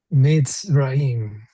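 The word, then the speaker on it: מצרים: Mitzrayim. Accent on the ra. Mitzrayim. Misrayim. Mitzrayim. That's right. Make sure we pronounce the yud as a y.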